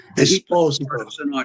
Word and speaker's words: Esposito: Esposito. That's the right way to say it. Espos, not Esposito.